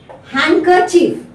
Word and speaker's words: handkerchief: letter n similarly D letter D is silent in these words how deep is Venice Venice take handkerchief handkerchief handsome handsome now